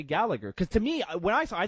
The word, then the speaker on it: Gallagher: I'm not saying fucking Gallagher. It's Gallagher. Fuck off. I hate people that say. Stop it. What does he say? Does he say Gallagher or does he say Gallagher?